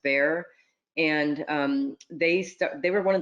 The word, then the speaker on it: Bexar: It's spelled Bexar, but it's pronounced Bear.